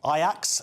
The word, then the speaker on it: Ajax: So after clashes on the streets of Amsterdam following a clash with Ajax in late 2024, that's what I've learned now how to pronounce it.